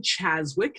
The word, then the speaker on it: Czaszewicz: and my name is Cheswick is how you pronounce my last name thriving hope and hope